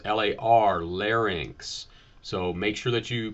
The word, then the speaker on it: larynx: Same thing with larynx, L-A-R, not L-A-N. Okay, so it's L-A-R, larynx.